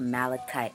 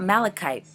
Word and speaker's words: malachite: Well, some people say it's pronounced malachite. I mean, that would make sense, but I've also heard people say malachite, so I've been saying malachite. So correct me if I'm pronouncing it wrong.